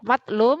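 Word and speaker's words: مظلوم: Makanya bacanya harus beda ya.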